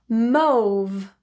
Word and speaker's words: mauve: Mauve or mauve. Mauve as in rhyming with that no vowel, or as in the vowel in on.